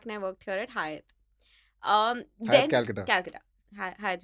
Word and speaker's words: Hyatt: it because they want you to sort of pronounce it well when you talk to guests about it. So it's Hyatt.